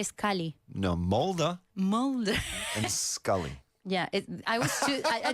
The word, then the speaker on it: Mulder: No, Mulder Mulder. and Scully. Yeah, I didn't speak English when Mulder y Scully. this was the thing. So Mulder and Scully. Mulder.